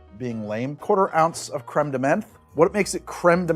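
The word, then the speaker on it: crème de menthe: To say it right, you have to ignore the great vowel shift, put that back at the back of your throat and say Créme De Menthe.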